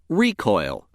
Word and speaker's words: recoil: The other pronunciation of word 13 is recoil. Recoil. This pronunciation is used when word 13 functions as a noun meaning the act of springing back.